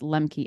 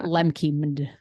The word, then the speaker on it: Lembke: That's how I would pronounce Lembke, Lembke, MD. MD as in she's a doctor. Yes. It's not Lemke.